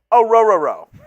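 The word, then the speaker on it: Orhorhoro: It's Rook Orororo. It's, yep. You're pronouncing the O at the begining, and then it's 3 row.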